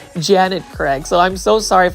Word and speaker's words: Janet Craig: I kept on saying Jenny Craig, like Jenny Craig lose weight, but it's actually Janet Craig.